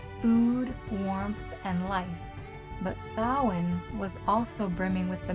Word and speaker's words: Samhain: It looks like it should be pronounced Samhain, but the Irish say Samhain it is.